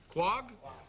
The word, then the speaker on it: quahog: Is quahog, is that right? Q-U-A-H-O-G. How do you pronounce that? Quag? Quag clams? Yeah.